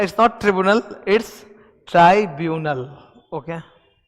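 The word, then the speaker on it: tribunal: ट्राइब्यूनल का pronunciation ये होता है। ट्रिब्यूनल नहीं होता, ट्राइब्यूनल होता है, ठीक है।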